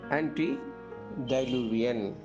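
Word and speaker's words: antediluvian: அப்படின்னு சொல்றோம்ல அததான் வந்து ஆன்டி டைலூவியன் ஆன்டி டிலூவியன் டைலூவியன் டிலூவியன் அப்படின்னு சொல்லணும் இப்ப இதுக்கு உதாரணம் என்னன்னா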